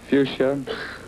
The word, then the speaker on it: fuchsia: purple drooping for petal flowers let's pronounce it fuchsia spell it which I a fuchsia fuchsia F you